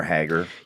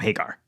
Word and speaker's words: Haggar: You know, the big statue of Mayor Hager. Yeah, and that's kind of the issue. Like, I'm like, I can't set it in Metro City without having Mayor. It's Hager. I call him Hagar.